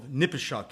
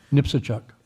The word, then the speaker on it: Nipsachuk: the archaeological issue, the Battle of Nipishuk, if I'm pronouncing it correctly. Nipsachuk.